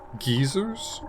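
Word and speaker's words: geyser: like red geezers Source geezers the British pronounced as geezers really oh God watch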